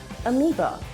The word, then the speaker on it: amoeba: barely touched your amoeba the spelling of this word is a bit different from the pronunciation AA amoeba an amoeba is a